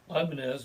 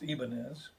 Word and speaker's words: Ibanez: So Ibanez, which should actually be pronounced Ibanez, but nobody does.